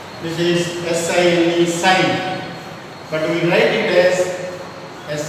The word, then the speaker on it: sin: It is actually sine, but we write it as sin theta. Theta is an angle, and we pronounce it as sine theta.